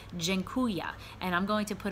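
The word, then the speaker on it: dziękuję: in to town and it's pronounced gen Kuya and I'm going to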